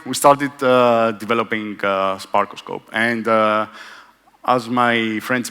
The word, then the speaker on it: SparkOscope: Greek for Lookout so it's pronounced like stethoscope but instead uh it's a sparkos scope um okay so what